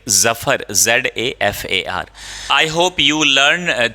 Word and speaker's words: Zafar: एंड आई am sure कि आपने ये जो करेक्ट प्रोनाउंसिएशन है, इफ़ you practice जफर, like Zafar, ZAFAR.